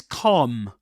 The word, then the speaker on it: calm: This is calm. Calm. Okay, calm. You don't pronounce the the L consonant. You don't say calm, but calm.